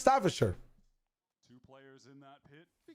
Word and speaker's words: Staffordshire: You can tell like your fucking North American lips the idea of saying "sure" instead of "shire." I'm trolling. It's Staffordshire.